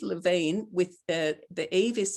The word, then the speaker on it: Yve: And so it's Yve Lavine with the Yve is spelt YVE.